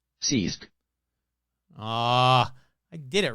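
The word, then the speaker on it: ceasg: called a Sisk c-e-a-s-g that cannot be how it's pronounced so let's find out how you pronounce sieg I guarantee it's gonna have so many freaking letters yeah no seriously I want to find out go ahead yeah same seized oh it really is just Sisk Sisk ah I did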